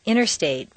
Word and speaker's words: Interstate: the button exercise 47 rule five the silent t t and N are so close in the mouth that the T can simply disappear repeat one interview two interface three internet four Interstate five interrupt six interfere